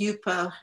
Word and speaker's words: Yupo: Am I pronouncing it correctly? Is it Yupo? It's Yupo, yeah.